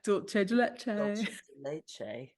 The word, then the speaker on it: dulce de leche: It's dulce. Dulce de leche.